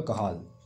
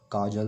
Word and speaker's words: Cajal: Spelling है CAJAL, pronunciation इसका आएगा कहाल, है ना, कि CAJAL है, काजल नहीं पढ़ के इसको कहाल पढ़ना, ठीक है।